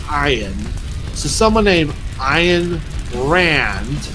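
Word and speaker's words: Ayn: oh so someone named and but actually it's pronounced I ed so someone named ayan brand who wrote the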